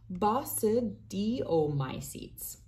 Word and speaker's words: basidiomycetes: fungi she worked with, basidiomycetes, pronounced basidiomycetes, another tough one, which includes most mushrooms and toadstools.